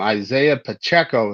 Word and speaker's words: Isaiah Pacheco: Isaiah Pacheco is what I think it would actually be pronounced as.